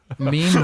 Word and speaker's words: meme: I mispronounced meme wrong for a long time. Meme? Yeah, well, it was a meme Everybody's- or a mimi for a really long time.